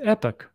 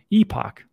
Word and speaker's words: epoch: So again, if you stake in like Epic, I know how people say it's Epic, Epoch, Epic. So Charles says it, so I'm just going to say it like that.